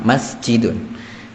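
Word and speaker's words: مَسْجِدٌ: Naam, masjidun. Tidak masjidun ya. Apalagi masjidun itu tidak ada. Di sini pendek semua.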